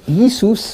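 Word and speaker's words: Ἰησοῦς: a British slang Jesus his Greek name is Yi soos we used the modern Greek enunciation Jesus it's very close to the Greek the modern Greek pronunciation his college is yeezus yeezus for the Y Jesus and it's Yeshua in Hebrew or yahushua either one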